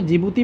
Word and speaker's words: Djibouti: ठीक है, DJIBOUTI ऐसे करके इस कंट्री का नाम, तो जिबूती पढ़ा जाता है। लेकिन आप याद करने के लिए इसको डी भी आगे प्रोनाउंस कर सकते हैं, ऐसा डी साइलेंट रहता है।